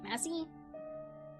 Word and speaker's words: Massie: I pronounce that right Massie it's like Missy but with an a messy Michael waited